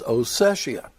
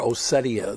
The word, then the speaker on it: Ossetia: And over here is Abkhazia, and over here is Ossetia, or Ossetia. They've been pronouncing it lately.